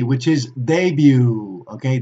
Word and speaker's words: debut: EU t which is debut ok debut ok be careful don't pronounce the T and now let's take